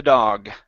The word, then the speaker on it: dog: Okay, so it's g with the G sound at the end instead of dog. Okay, close your mouth like you're saying goal. Go. Dog. Dog. There you go. That's the sound.